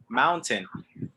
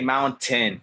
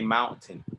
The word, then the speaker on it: mountain: t that's fine but don't don't say mount 10 you know say mountain you know very soft tea this next word is